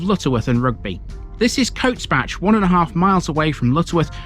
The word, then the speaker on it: Cotesbach: This place has got Bache in its name, but round here you don't pronounce it as Bache, you pronounce it as Batch.